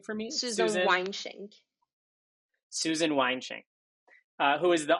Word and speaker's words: Weinschenk: Could you pronounce her name for me? Susan Weinschenk.